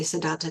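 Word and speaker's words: Siddhattha: Maybe I'll say Sedata, that's the word in Pali. It's Sedartha in Sanskrit. Sedata and Polly.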